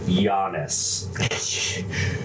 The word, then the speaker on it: Yanes: It's just like Giannis, you know? Oh shit. So, Y-A-H. Yeah. On the record, his name is pronounced Giannis.